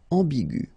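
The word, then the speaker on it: aiguë: U will become U another example is igu and it will become igu okay so you don't modify the way to pronounce them you only need to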